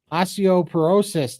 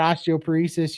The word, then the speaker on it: osteoporosis: those last ones here osteoporosis Todd not osteop paresis you pronounced it correctly thank you so